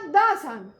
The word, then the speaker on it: the: Vowel সাউন্ডের আগে THE এর উচ্চারণ বা প্রোনাউন্সিয়েশন হয় দি, আর কনসোনেন্ট সাউন্ডের আগে THE এর উচ্চারণ হয় দা।